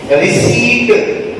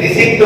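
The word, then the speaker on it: receipt: हम लोग आमतौर पर रिसिप्ट बोलते हैं, इम्तिहान की रिसिप्ट अभी हमको नहीं मिली है ना, तो रिसिप्ट नहीं, रिसीव्ड, हाँ, पी साइलेंट है।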